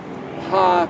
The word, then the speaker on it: hei: it's an expression that the letter hei is pronounced is ha means that uh it's to